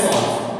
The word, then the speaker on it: Schwann: और cell theory में क्या क्या होगा, देखो सेल थ्योरी में सॉन की स्पेलिंग SCHWANN है, सॉन।